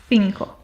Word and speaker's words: cinco: The first one is more similar to an S sound or the TH sound in the English word think, while the other is